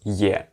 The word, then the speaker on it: е: If the ye is in the beginning of a word, then yeah, you pronounce it like yeah. Very much it's like this Y-E sound, basically. But if it's in the middle of a word, it just little bit softens the previous consonant mostly.